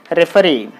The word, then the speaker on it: referee: can find ee here so if ee there the stress is on the last syllable what is the